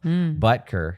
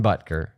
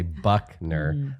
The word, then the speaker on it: Butker: Butker, Harrison Butker. I'm going to emphasize the butt part and then I won't get it wrong. Because then I won't say Buckner.